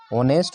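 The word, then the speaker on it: honest: शब्द मैंने क्या लिखवाया एच साइलेंट होता है तो यहां पर देखि एच जो होगा इनका क्या होगा साइलेंट होगा और हम पढ़ेंगे कहां से यहां से ऑनेस्ट और इसको क्या पढ़ेंगे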